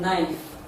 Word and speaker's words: knife: It is silent in knife, spelled as KNIFE.